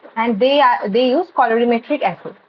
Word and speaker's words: colorimetric: And they use colorimetric assay. Like color change we see. The right pronunciation is colorimetric.